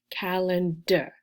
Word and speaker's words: calendar: syllables in a word certain vowels become pronounced like uh instead of ah because uh uh is easier calendar er calendar so because